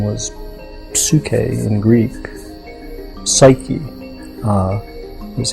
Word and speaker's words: psyche: That's something that it was given a name, and the name was psyche in Greek. Psyche is how we pronounce it now, and the word means soul.